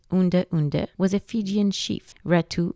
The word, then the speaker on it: Udre Udre: Ratu Udre Udre, pronounced Unde Unde, was a Fijian chief, Ratu meaning chief, in the north of Viti Levu, one of the Fiji Islands.